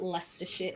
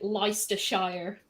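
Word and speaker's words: Leicester: leester that's it uh it's like spelled strangely but it's spelled Lester it's said but uh I've heard people say l Shire okay I'm just like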